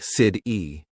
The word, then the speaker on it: city: For example, water sounds like wader, better sounds like be dare, city sounds like sid-e.